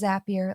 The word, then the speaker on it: Zapier: Yes, it's pronounced Zapier, like happier.